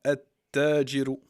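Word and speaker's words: التاجر: Tajiru, le commerçant, on le prononce comme ça, At-Tajiru.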